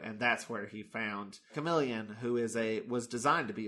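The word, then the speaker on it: Kamelion: Chameleon with a K. It's spelled Came Lion.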